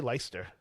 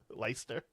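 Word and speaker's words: Leicester: Treasure say Lyster. What? Lyster. What's Lyster? Yeah, exactly. It's like Worcester except so it's L E I C E S T E R.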